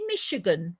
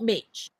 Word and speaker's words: Michigan: us for Michigan me is it Michigan Michigan not Mitch yeah yeah on on